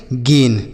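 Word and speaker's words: gain: जी ए आई एन गेन।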